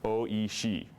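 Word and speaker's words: おいしい: instance the Japanese word for delicious is OE she so it's oi and it's OE always and there are a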